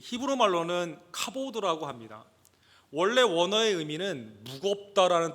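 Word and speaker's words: כָּבוֹד: 좀 발음이 좀 그렇죠. 독사 이렇게 되어 있습니다. 이 히브리 말로는 카보드라고 합니다.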